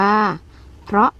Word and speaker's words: เพราะ: กับ นี้ นะ คะ เครื่อง นี้ อ่าน ว่า เพราะ พอ รอ ออก เพราะ